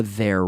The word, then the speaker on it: their: They're fighting for their rights. Now make sure with the TH, they and their rights. You have to stick your tongue out. Hay que sacar la lengua un poco.